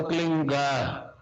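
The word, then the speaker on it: क्लीं: एक शब्द क्लीन शब्द क्या आधा ला में मिला हुआ, बड़ी की मात्रा और बिंदी, उसका उच्चारण होगा क्लीन गा। गा की ध्वनि निकलेगी पीछे।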